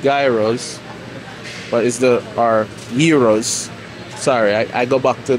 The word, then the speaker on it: gyro: what is the Our Heroes sorry I go back to the whole way of saying it but so the it's supposed to pronounce here hero so yeah three pack